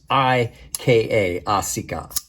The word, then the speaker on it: Asika: asica that is s-a-r-a-s-i-k-a asika and i'm basing that on japanese pronunciation because eyes make the e sound um it is a